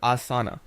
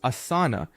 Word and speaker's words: asana: First, take note of the initial sound ah, which is similar to the a in father.